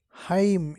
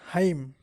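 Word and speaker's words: hymn: talk now the body silent n Heim h y m n Heim and Richard what's your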